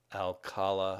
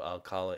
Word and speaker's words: Alcala: the early 80s a lot of uh Alfredo alala I always say his name wrong a lot of Alfredo Alcala inking if you know who that is um